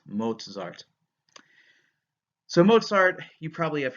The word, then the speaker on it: Mozart: don't call him Mozart I know his name doesn't have a T in it but in the German whenever you have a vowel followed by the letter Z it you get the T Z pronunciation so it's Mozart's Mozart so Mozart you probably